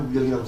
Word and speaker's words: 울력: 울력이라고 쓰는데 굉장히 좀 알만한 한자 중심으로 써가지고 운력 그러는데 우리 발음나는 대로 울력이라고 써야 됩니다.